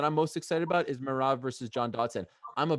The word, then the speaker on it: Merab: I'm smiling because John Dodson yesterday referred to his Merab. Am I pronouncing that correctly?